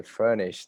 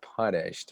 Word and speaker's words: furnished: And they're like, "Hi, hey, Yosef, you were supposed to say furnished, not punished." Because in Korea, they don't really distinguish the two different pronunciation. Everything is like a P sound, Yep. whether Yep. it's an F or a P.